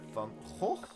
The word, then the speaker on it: Van Gogh: And then over here we got Van Gogh, that's how you pronounce that, and Rembrandt van Rijn, that's how you pronounce that, if you were wondering.